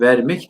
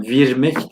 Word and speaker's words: vermek: Vermek diye okunur. Emre Bey, Emine Hanım. Ama virmek diye yazılır. Bunu eski metinlerde virmek diye görürsek şaşırmıyoruz. Neden? Bazı kelimelerin ilk hecelerindeki e sesleri y okutucusu ile çünkü gösterilir.